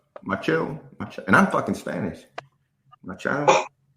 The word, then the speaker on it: Machado: Machado, and I'm fucking Spanish.